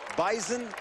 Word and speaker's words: Bison: And oh yeah, it's bison with a Z. Bison. Bison, not bison. Is that why I have no idea? Like, I don't know why. Go Bison, that's just the way it is. I like it. Yeah. Joey, that's just the way it is. That's just the way it is. Well, it's spelled B-I-S-O-N, but it's Bison.